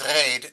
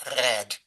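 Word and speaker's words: רייד: which people are saying, usually it's reid, not red. But I guess both are there. It's because the vowel is in many dialects pronounced a. So I think reid is more common.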